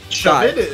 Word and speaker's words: Shvde: Shvde, that's the way. Look at how it's printed. Look at how it's spelled.